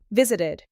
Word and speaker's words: visited: Worked, played, visited. Worked ends with a soft T. Played ends with a soft D. Visited ends with ID.